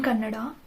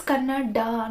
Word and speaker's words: Kannada: As I said earlier, in Kannada, when there is an extra A at the end, why do you pronounce it as Kannad? The Devanagari logic and all, it doesn't work here, no. It's Kannada, not Kannad.